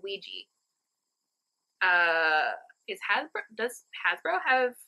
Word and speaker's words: Ouija: Okay, so French is oui, German is ja. Oui. Ouija board. Ouija, although we pronounce it Ouija.